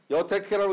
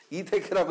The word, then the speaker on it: 이택회: 조 글자는요, 여태케라고 읽으면은 주역 공부를 안 한 사람입니다. 이태케라고 읽어야 됩니다. 걸릴리 그럽니다. 고울여 그러는데 걸릴리 그렇게 해서 그래서 이태케라고 해야 됩니다.